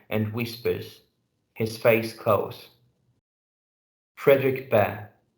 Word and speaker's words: Friedrich Bhaer: Friedrich Bhaer, which actually would be the more or less Friedrich Bhaer, the German way to pronounce it, but here we pronounce it like Friedrich Bhaer in English, notices that Joe is quiet.